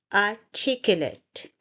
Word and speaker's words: articulate: The first sound is R. The R sound is very soft. R. Take. We stress it here. Take. Y and lut. It's not let, it's lut.